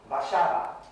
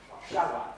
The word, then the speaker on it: Warszawa: Warszawa. Okay. Now, did you hear that the stress syllable was the one next to the last, the penultimate syllable? Warszawa.